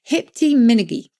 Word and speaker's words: hiptiminigy: Hipty-minnigy. Hipty-minnigy is a cry that expressed exuberance of spirit. Hipty-minnigy. How do we spell that?